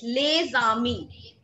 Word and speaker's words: Les Amis: So here in this case, we carry forward the sound of alphabet S along with the alphabet A. That is why we call it Les Amis.